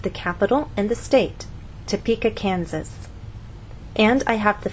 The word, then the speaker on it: Topeka: you can be misunderstood for example if you tell any American that you have friends in Topeka Kansas they're going to look at you and ask what country is that in what continent is that on but if you move the stress to the correct place and try again tell the Americans that you have friends in Topeka Kansas now they'll understand there is a state